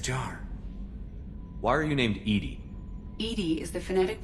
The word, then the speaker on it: EDI: airlock is a jar why are you named Edy Ed is the phonetic pronunciation of Ed that is an acronym for